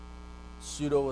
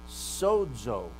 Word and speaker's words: pseudo: fake it's pretend so when you say it right you have the right you have the unvoiced labial and the s alveolar pseudo but if you say the word sodzo look at the first consonant there the yes sodzo